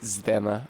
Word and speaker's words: Zdena: Oh, it's check. Fuck. Zdena. It is just Zdena. Okay, cool. Thank you. If you please, Sister Zed... I can't do it. Zdena and I would prefer